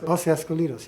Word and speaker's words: Os Escolhidos: or in Portuguese is what how do you pronounce it? Os Escolhidos? Os Escolhidos. Os Escolhidos, yes.